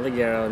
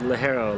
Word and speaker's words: Ligero: is the lagero not ligero not legero not the guerrilla giro i believe it's pronounced lagero like with an h instead of a g i think this is